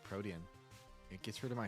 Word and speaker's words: Protean: It's not how you pronounce it. It's Protean.